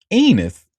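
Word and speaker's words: Enes: So his name is actually pronounced um Enus, rhymes with penis.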